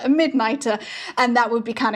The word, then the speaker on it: Mydnyter: And sometimes, depending on the region that hedgehogs are from in Chutaland, this is sometimes pronounced as Neater. So that would become Skykneiter or Midneater.